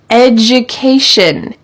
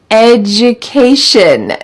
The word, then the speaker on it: education: for being my student education education notice this pronunciation the D sounds like J education you can get a